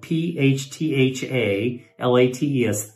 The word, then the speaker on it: phthalates: It turns out that flavoring, these fragrances contain phthalates. That's spelled P-H-T-H-A-L-A-T-E-S, phthalates.